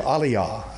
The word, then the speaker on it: Aliyah: is what's called an Aliyah they make an alyah or Aliah I think some of them pronounce it that way and they're probably more correct than I am I'm an Englishman trying